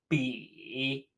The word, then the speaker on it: 比: compare or to contrast pronounced be be like a bumble bee bee that is